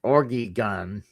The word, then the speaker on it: Oregon: This is how you say it. Oregon.